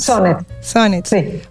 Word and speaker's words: Soonets: acá con ustedes Cómo pronuncio tu apellido sunet sonets o son sonet son sonet buenísimo eres psicóloga social Eso